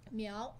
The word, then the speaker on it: Miao: population in China what do they call themselves meow they are called me all people Chinese how